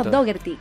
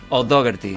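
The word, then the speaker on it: O'Dogherty: O sea, que se pronuncia O'Dougherty. O'Dougherty.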